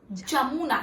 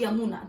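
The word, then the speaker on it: Jamuna: Brahmaputra river को तिब्बत में सैंगपो नाम से बुलाया जाता है एंड बांग्लादेश में जमुना, नॉट यमुना, don't get confuse in इट इज जमुना।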